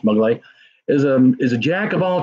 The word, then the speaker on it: Maglott: So, for those of you who don't know, Brad Maglott, spelt Maglott, but pronounced Maglott, is a jack of all trades.